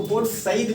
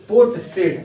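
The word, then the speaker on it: Port Said: उसको पोर्ट सईद भी बोलते हैं, तो पोर्ट सईद ही लिखिएगा पोर्ट। और ये एक्चुअली ना ऐसे स्पेलिंग होता है, इसको बोलेगा देखा तो सेड होगा ये, ठीक है? लेकिन इसको इसलिए आप बोलेंगे पोर्ट सेड, मतलब बंदरगाह ने बोला था, तो ये नहीं, यहाँ लिखिएगा सईद।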